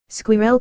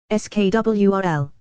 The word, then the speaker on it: squirrel: Here it's a 2-syllable word. Squirrel kinda. But when my American GF says it comes out kinda like squirrel. The first time she said it I thought she said swirl. It's just 1 syllable.